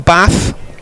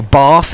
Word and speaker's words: Bath: 22 years old and from bath or bath if you can't pronounce it properly and you come from the southwest it's definitely a bath rush with comes in